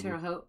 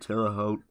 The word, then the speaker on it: Terre Haute: I had a hard time pronouncing like the Terre Haute or whatever. Terre Haute.